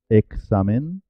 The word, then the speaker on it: examen: con w en español La x la x tiene dos sonidos diferentes en español cuando está entre vocales por ejemplo en examen examen saxofón oxígeno suena ex examen saxofón oxígeno en el